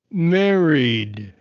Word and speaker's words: married: from this word guys what letter is not pronounced there is one letter that is not pronounced that is silent what is the silent letter in married what is the silent letter in married guys can you identify the silent letter in merit yes no the letter a the letter a this one but it is pronounced we say mary yes the letter e